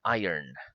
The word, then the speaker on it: iron: iron very good okay listen like you we pronounce it with a Y iron very good okay the names of the four